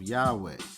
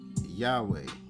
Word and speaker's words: Yahweh: The tetra gam grammaton y hwh is not ordinarily written with its appropriate Hebrew vows but that the original pronunciation was Yahweh seemed promable.